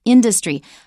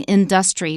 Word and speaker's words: industry: Watch out even more for the stress in industry because it changes in the noun it's industry. I hear a lot of people saying industry which is wrong. It's not triangle either. It's triangle industry.